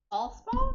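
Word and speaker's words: Alspaugh: Alspall.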